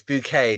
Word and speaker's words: Bucket: the show was she her name was Mrs. Bucket, but she would go it's it's Bouquet, darling. Bouet. I say who says Bouette? No, her name was Mrs. Bucket.